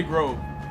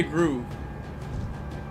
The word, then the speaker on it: Grove: It's like 99% of people from South America and Europe, they don't say Grove. They say Groove. You want the Groove Street shirt, the Turismo Groove shirt. I fully embraced the bad pronunciation when I made my name that for a little while.